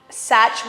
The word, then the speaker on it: Saç: Saç, which is pronounced such, but it's SAC with a little bit of that.